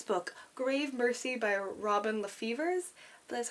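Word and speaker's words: LaFevers: picked up this book grave mercy by robin lefevers that's how you pronounce it um i saw it and i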